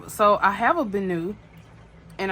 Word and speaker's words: Benu: so I have a bonu and I'm pretty sure that's how you say it bonu um because that's how everyone was pronouncing it I just wanted to make sure I was pronouncing it correctly so I have a